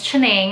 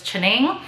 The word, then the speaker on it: Chianingly: sure everybody's been wondering how to pronounce my English name well lost or I really don't have one so it's my Chinese name literally directly translated into English so it's chinning and I will post